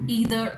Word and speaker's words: either: Similar to neither nor, either or. Neither, neither. Both are right. Neither, neither, both are right. Either, either, both are equally acceptable.